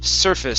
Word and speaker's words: surface: Okay, so this word is surface. So the ACE, this is going to be like an IS sound.